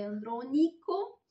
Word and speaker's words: Andronico: Tornando a Livio Andronico, che adesso ho visto l'accento, è Andronico, se mi ricordo bene, appunto, lui prima era